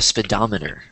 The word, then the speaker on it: speedometer: I have another picture of that, but what it's called, this is called a speedometer. Speedometer. Yeah. Speedometer. Speedometer. It looks like speedometer, but it's pronounced speedometer.